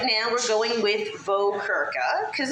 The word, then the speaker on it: Vokerka: The pronunciation of our last name has been very anglicized, because in the Czech Republic, it would be Vokerka. Rolling your R's is so much fun.